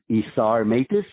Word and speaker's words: Isar Meitis: LinkedIn and lucky for me my name is isar matis uh which is spelled Isa r m e i t i